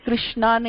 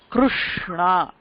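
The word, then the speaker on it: कृष्ण: இப்போ நம்ம இங்கிலீஷ்ல கிருஷ்ணான்னு எழுதுறோம், KRISH ன்னு எழுதுறோம்ல, அது தப்பு. கிருஷ்ணா அப்படின்னு சொல்லக்கூடாது. இது கிருஷ்ணா, வித்தியாசம் இருக்கு.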